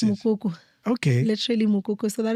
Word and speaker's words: Mokoko: How do you pronounce it? Mokoko.